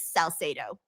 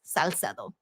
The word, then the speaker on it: Salcedo: A lot of people don't know how to say my last name, but it's pronounced, the way I pronounce it is Salcedo. And again, the Spanish version is Salcedo.